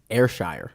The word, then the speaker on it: Ayrshire: He let us know how to pronounce his name. Ayrshire. Ayrshire.